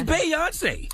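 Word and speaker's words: Beyoncé: a president as Beyonce is a performer it's Beyonce as good good president as Beyonce is a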